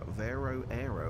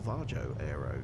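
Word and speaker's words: Varjo Aero: it's the uh it's the Vero V Vero Arrow or vajo Arrow depending on your pronunciation but uh yeah one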